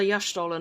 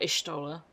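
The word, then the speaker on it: Y'shtola: I've always called her Yashtola, not Ishtola. Okay. I'm just pronouncing everyone's names wrong.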